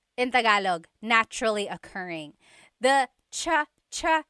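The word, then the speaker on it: tsa: Polyglot said it's like the word cha. Cha in Tagalog is tea. like the tea that you drink. And it's spelled T S A. Cha. Cha. That's such a Tagalog spelling. I love it. There's the ts sound and then the double vowel uh pronunciation.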